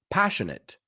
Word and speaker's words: passionate: second word is passionate I took this one because of the pronunciation it's not eight okay passionate so if you have